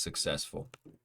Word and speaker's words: successful: or trustworthy successful trustworthy success sess s successful second syllable is stressed so it is successful trustworthy is the first